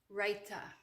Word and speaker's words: raita: adds a great touch is that pronounced rita or raita raita you can call it rita you can call it